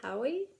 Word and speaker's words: Howey: reading and that is a Wool by Hugh Hoy I guess is how you pronounce his last name The Silo Series this